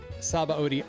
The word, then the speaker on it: Sabaody: I know Sabaody Archipelago is another one fans are divisive on. You just say Sabaody just because that's how they say it in the Japanese.